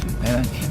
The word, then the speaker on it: ayran: What about ayran? Am I pronouncing that right?